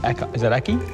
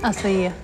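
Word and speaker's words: açaí: How do you say that? Is it Aki? Acai. Acai. Acai.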